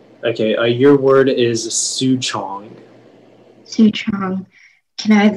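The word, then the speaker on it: souchong: have language margin please yeah it's from chinese su chong can i have heart speech please oh it's a noun um are there any alternate pronunciations yeah it can be pronounced su chong soo shong and soo jong si chang um can you repeat the word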